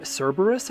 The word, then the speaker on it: Kerberos: weapon official report caros some people say Ser Cerberus I think but in Japanese it's K Kerberos Kerberos I find that kind